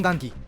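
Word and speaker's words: 雁木: を言い、本来は雁木と読みますが、舞坂では雁下と呼んでいます。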